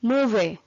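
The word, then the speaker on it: movere: Term motivation is derived from a Latin word मूवे। ये MOVER को हम प्रोनाउंस करते हैं मूवे, विच मीन्स टू मूव।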